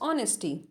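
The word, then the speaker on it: honesty: no doubt about his ऑनेस्टी यहां पे H silent होगा उसकी प्रतिभा पर कोई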